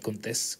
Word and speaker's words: Contés: Así que aquí te dejo con Miguel Contés, con acento en la E.